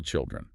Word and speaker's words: children: The I in child is a long diphthong sound, rhyming with mild. Your mouth has to move to make it. But when we add the plural suffix to make children, the vowel just collapses into a short I, rhyming with pill.